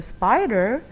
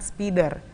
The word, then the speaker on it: spider: So not speeder, but spider.